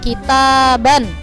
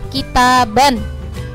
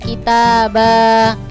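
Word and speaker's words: كتابا: panjang contohnya misalnya lafadz kitaban ya ketika washol lanjut dengan lafadz setelahnya maka bacanya tetap kitaban misalnya kita dan muajjalah kita BAB Jadi bukan kita Bah tapi kita ban muajjalah jadi harokat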